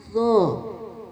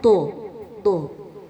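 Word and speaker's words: ظ: Zo. Tadi pengucapannya banyak yang do. Jadi kurang aliran suaranya.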